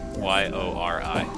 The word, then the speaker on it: Yori: Yori. Okay. Like Yuri, except with an O instead of a U.